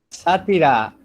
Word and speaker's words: sátira: Sátira, acento en la A, sátira.